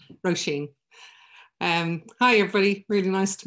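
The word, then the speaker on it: Róisín: It's Roisin. So you swing out at the end of it, Roisin.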